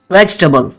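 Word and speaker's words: vegetable: इसको हम कहेंगे वेजिटेबल। ये टेबल नहीं है, इसकी प्रोनाउंसिएशन है वेजिटेबल। वेजिटेबल। इसमें ई साइलेंट है।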